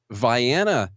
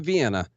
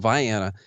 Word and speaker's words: Vienna: So basically the Kentucky part of Illinois, a little town called Vienna is how we pronounce it, not Vienna, like those crazies over there. It's called Vienna, and also split my time in another town called Pulaski.